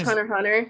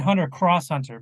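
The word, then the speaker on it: Hunter × Hunter: Yeah, and just Hunter Hunter. You don't pronounce the X. Oh, I said Hunter Cross Hunter because I was educated that it's Hunter.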